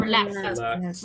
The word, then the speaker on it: relaxed: Relaxed. Relaxed. With T. Not relaxed, relaxed.